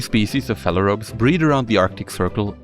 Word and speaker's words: phalaropes: Phalaropes, often mispronounced by me as pharaohs.